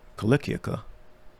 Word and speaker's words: Cilicia: of them of Sicily, Cilicia, which is pronounced with a k sound, not a s sound, and Asa and Asia, disputing with Stephen.